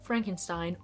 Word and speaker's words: Frankenstein: it begins with Frederick Frankenstein or as Frederick likes to pronounce it frank enstein because he wants nothing to